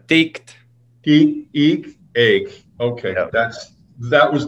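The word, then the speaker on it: tikt: How do you say T-E-I-K-T compared to T-I-K-T? Taked. Taked. And then ticked.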